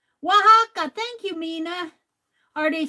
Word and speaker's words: Oaxaca: Pronounce it as Oaxaca. Oaxaca.